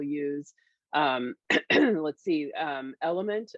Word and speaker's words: LMNT: um let's see um element uh it's well it's spelled lmnt uh is another one